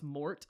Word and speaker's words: Mort: Yeah, because I overpronounce Mort a lot of times trying to get them to understand what I'm saying. So I'll go like, Morts.